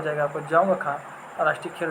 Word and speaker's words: जोंगखा: ठीक है, डी यहाँ पे साइलेंट है तो इसका राष्ट्रीय भाषा हो जाएगी जोंगखा।